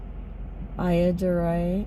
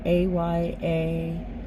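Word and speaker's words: Ayyadurai: Shiva Ayadurai, I think it's pronounced Ayadurrai, if I remember correctly.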